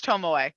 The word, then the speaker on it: Tomio: time it's it's okay it's tome away it's fine home away okay it's sorry i need